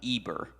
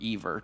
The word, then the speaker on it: Eber: It means descendant of Eber, or Ever, depends on how you say it.